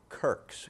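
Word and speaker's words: Quirke: y uh and also a a family of kirks k i r k s which apparently is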